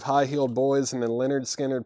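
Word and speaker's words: Lynyrd Skynyrd: Low Spark of High Heeled Boys and then Leonard skinnard pronounced Leonard skinnard remember I I explained this one time and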